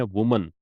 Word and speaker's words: women: इसको हम बोलते हैं वुमन, ये सिंगुलर है, एक वचन है। और WOMEN है, इसको बोलते हैं विमेन, ये बहुवचन है। ठीक है, इसको विमेन बोलते हैं, प्लूरल है। ये इसका प्रोनाउंसिएशन याद रखना।